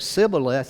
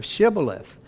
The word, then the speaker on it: Shibboleth: Because of their accent, because of the way they talk, they didn't have a way of pronouncing this, so they would say it Sibboleth instead of Shibboleth.